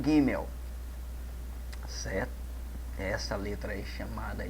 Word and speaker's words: gimel: terceira letra é o gimel certo essa letra aí chamada de gimel ou gimel pronuncia-se gêmeo certo e tem um som de G como no caso nós pronunciamos a palavra garota tem um som de